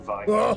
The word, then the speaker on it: Veigar: So for our first installment here, I have Veigar, or Veigar, depending on how you pronounce it, and my favorite bad Santa skin.